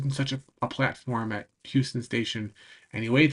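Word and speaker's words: Euston: It's written Houston, but it's pronounced Houston over there.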